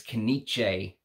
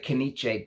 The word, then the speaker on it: Knize: Someone left me a message saying it's Knize, that the Z is said like a J.